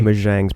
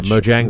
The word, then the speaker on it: Mojang: probably he's probably one of the wealthiest honestly majangs probably got more or however you say his